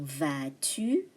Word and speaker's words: vas-tu: Comment vas-tu? The S is silent.